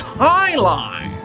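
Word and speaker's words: jai alai: It's pronounced Highline.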